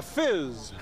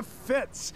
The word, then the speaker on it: FIZ: Kato, we're at the Fizz. No, it's the Fitz. It's the Fitz. It's spelled Fizz.